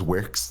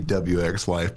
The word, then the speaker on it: WxLyfe: Technically, officially, it would be WxLyfe, but everyone just calls me Wix or.